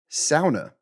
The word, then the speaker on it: sauna: Somebody said that like sauna is the only Finnish word in the English language, or something like that. It's a Finnish word, and it's actually pronounced sauna.